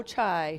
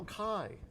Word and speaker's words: Chi: Delta Tau Chi. No. How do you say it? Delta Tau Kai.